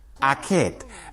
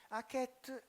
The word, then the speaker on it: Akhet: how they were written, but how they are pronounced. Akhet. Akhet is a hieroglyph. You see it here in the middle. Akhet è un geroglifico, lo vedete qui nel mezzo.